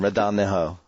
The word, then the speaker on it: Ronaldinho: Ronaldinho. Oh, Ronaldinho, whatever. Ronaldinho. People have emailed me about my pronunciation problems, and the two things I can't do is pronunciate names or pronounce names.